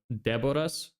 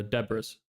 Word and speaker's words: Deboras: Well, the way you actually pronounce my name is like uh Deboras, but that's usually hard for people to say, and it doesn't really fit well in English. So, uh, usually I just have people pronounce it as, uh, uh, Deborah's, but a lot of people like silence the S for some reason. I don't know what what what that's about.